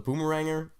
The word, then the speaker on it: Boomeranger: Well, the Boomeranger. So here the Boomeranger, pronounced Boom-eranger.